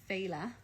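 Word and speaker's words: féile: a pattern by justin arkowski lorcesca called the phala shawl and i'll spell it because it's um f-e-i-l-e an irish word meaning kind of festival celebration um so fela and it uses two schemes of fade street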